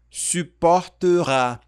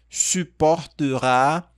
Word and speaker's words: supportera: Só lembrando que aqui, ó, nós temos o biquinho. Suporta. Tem aqui o biquinho e tem esse carinha aqui também. Suporte. Suporterá. Suporterá. E aqui uma ligação. Ton absence. Suporterá ton absence.